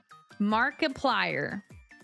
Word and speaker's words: Markiplier: Markiplier. Like a multiplier.